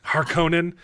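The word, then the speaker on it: Harkonnen: say haran agree 100% which is how they pronounce it in the original movie harkonen but I got it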